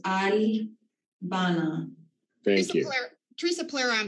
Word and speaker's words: Albana: Some people pronounce it Alabama. Some people pronounce it Albana, but it is pronounced Albana.